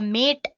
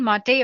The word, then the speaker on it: MATE: boots you into the mate desktop environment let me pronounce it m a you can call it whatever you want mate or mate desktop environment so as you can